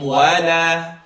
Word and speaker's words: ولا: I want you to say wala. And if you're just starting out to read Quran, stretch it as much as you can.